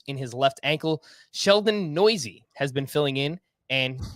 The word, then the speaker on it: Neuse: By the way, if you're trying to figure out how to spell that, that's Neuse, and it's pronounced Noisy.